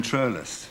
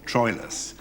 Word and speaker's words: Troilus: Yes, they also pronounced what we call Troilus as Troilus, which sounds more romantic, which probably befits his character. And in that case, Troilus, Shakespeare sometimes scans the word as 2 syllables and sometimes as 3, and it depends on